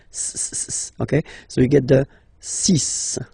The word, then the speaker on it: six: so you get the sis pronunciation Sis Sis okay so it's not six it's sis all right then here